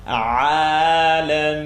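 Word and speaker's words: العالمين: Remember, the ayn is a light letter, so you're going to open your mouth. Alameen.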